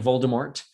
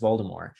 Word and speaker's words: Voldemort: it turns out um the author has been caught on tape saying voldemort and yet she insists that it should be pronounced voldemort um but what this